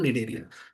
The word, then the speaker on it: Cnidaria: है कि commonly called निडरिया। यहां हिंदी में लिखा है निडर। मतलब निडर ऐसे याद करने का तरीका है कि निडर सी साइलेंट है।